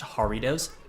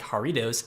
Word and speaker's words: Jarritos: A type of soda that I do like, hopefully I'm pronouncing it right, I believe it's pronounced Jarritos, spelt with a J, and it's a Mexican brand of soda that doesn't use high fructose corn syrup, right?